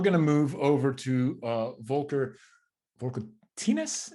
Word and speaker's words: Volker: Next up, we're going to move over to Volker Tines. Is that the right way to say it, Volker?